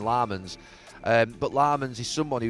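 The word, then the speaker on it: Lammens: I say Lemons and they call him Lammonds.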